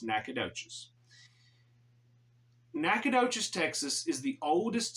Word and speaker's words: Nacogdoches: Texas and yes if you wondering how to pronounce it it's nacadas nacadas Texas is the oldest city in the